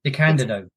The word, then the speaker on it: DeCandido: Keith R.A., just pronounce his last name, Edwin. DeCandido.